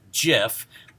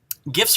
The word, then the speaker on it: GIF: going to be controversial the gif format is pronounced just like that with a hard g now some people believe that it should be a soft g and therefore pronounced like jiff just like the brand